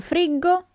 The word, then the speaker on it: friggo: Io friggo, tu friggi, but pay attention to the sound. The sound, the pronunciation of the verb changes. Io friggo, tu friggi, lui, lei frigge, noi friggiamo, voi friggete, and then it changes again. Essi friggono. Okay?